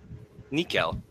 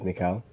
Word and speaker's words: Nikhil: And when this flash dims, Nikhil, come on now. Nikhil. I mean, you could read that phonetically as Mikal. Nikhil.